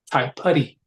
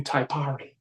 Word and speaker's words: Taipari: Whereas like my ex-wife had a son, has a son named Tai Putty, right? Because Tai Putty's father is Maori, right? So Tai Putty is spelled Taipari. mm.